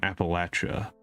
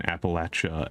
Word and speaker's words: Appalachia: Because over on YouTube, I've got a viewer from Appalachia. I know the distinctions between Appalachia and Appalachia as methods of pronunciation, depending on where you are in the United States.